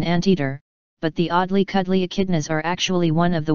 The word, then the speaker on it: echidna: The echidna, pronounced echidna, is sometimes called a spiny anteater, but that's because it has sharp spines and likes to eat ants.